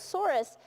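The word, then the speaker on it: sorus: how you're pronouncing that Soros SOR us so almost like a sore I st.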